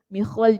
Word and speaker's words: Mikhwal: Mikhwal di sini ialah seorang perawi yang mana dikata dibaca dengan mengkasrahkan huruf awalnya mim dan mensukunkan huruf kha, dia baca mih.